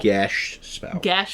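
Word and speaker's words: geas: Gesh spell. A year later, we've learned from our mistakes. Yep, We're pronouncing it right.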